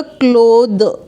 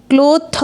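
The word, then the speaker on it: clothe: यहां पे स्पेलिंग में थोड़ा सा चेंज है टी एच के बाद ई लग गया अब हम इसको द रीड करेंगे तो यह हमारा हो जाएगा क्लोद क्लोथ नहीं होगा क्लोद हो जाएगा और यह एक वर्ब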